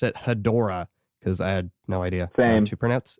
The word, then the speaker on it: Hedorah: discussing godzilla vs hetera um growing up always pronounced it hedorah because i had no idea anything and this